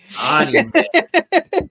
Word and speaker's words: anime: anime right now uh anime listen that's how they pronounce it everywhere else except for the US um so she's like